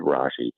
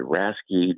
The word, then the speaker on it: Rashi: My name is Rashi, and everybody, it's like Rasky, Rafe, Rache, Reich, and it just slid right off the tongue.